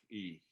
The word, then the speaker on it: ich: Knabe sprach ich. And let me give you another hint. That ich laut, you said the word hue. Ich, say hue. Hue. Hue. And your ich loud is right there.